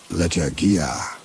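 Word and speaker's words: lechuguilla: Agave lechuguya, she read, and then corrected her own pronunciation the way he would have. Lechagia, the emphasis falling where he'd taught them to put it when they were children.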